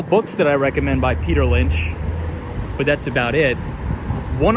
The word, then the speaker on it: Peter Lynch: Am I saying his name wrong? No, Peter Lynch, yeah, that is right.